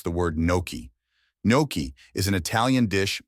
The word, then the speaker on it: gnocchi: The spelling might trick you into saying guh-nok-ee or nock-ee, but the correct pronunciation is actually NYOH-kee.